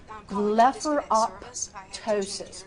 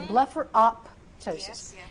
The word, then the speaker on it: blepharoptosis: You wouldn't say optician, as in for optician. You wouldn't say otician. You'd say optician. So it's the same thing. So blepharoptosis. And so again, blepharoptosis, blepharoptosis, blepharoptosis.